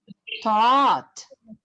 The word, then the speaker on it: taught: What's the past of the word fight? fought. So if this is fought, this has to be taught.